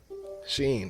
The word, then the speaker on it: Shein: But Sheen is spelled Shein. Sheen. I know your bitch probably done bought something out there.